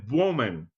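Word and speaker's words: Evbuomwan: Tosin Bowman, which is spelled Evbuow.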